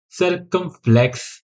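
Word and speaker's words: circumflex: इसमें फ्रेंच में और अगर हम इंग्लिश में प्रोनाउंस करते हैं सरकम फ्लेक्स सरकम फ्लेक्स इसमें एम आएगा इंग्लिश में ठीक है इसका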